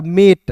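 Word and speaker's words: mate: टी का ट लिखिएगा ए है तो इसका उच्चारण ऐ के रूप में नहीं करेंगे अंतिम में इ दिखिएगा तो इ है तो बस एक इकल के रूप में यानी कि ए के रूप में उच्चारण करेंगे दोस्तों हो जाएगा मेट ठीक है मेट हो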